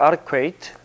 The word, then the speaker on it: adequate: Q 발음할 때는 동그랗게 해줘야 돼요. adequate.